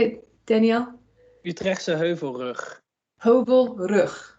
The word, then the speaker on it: Utrechtse Heuvelrug: So can you help me with the pronunciation? The Utrecht Heuvel down in, how do you say it, Danielle? Utrechtse Heuvelrug. Heuvelrug. Heuvelrug.